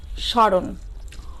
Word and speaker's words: স্মরণ: এরপর দেখো কি আছে স্মরণ অনুরূপভাবেই স্মরণ শব্দটির সাথে স এর সাথে কি আসছে ম ফলা সংযুক্ত আছে তাই এ বর্ণে কিছুটা কি পড়েছে ঝোপ পড়েছে এবং সামান্য নাসিক্য স্বর হয়েছে কখনো কখনো এই ম